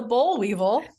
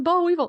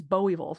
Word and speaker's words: boll weevil: oh the bull weevil it's the bow Weevil so okay there are a few words that I can't pronounce not with a Southern accent because you just never hear them said that way so Boll Weevil is one of them like you can't pronounce the whole thing it's bow evil like this there's one like when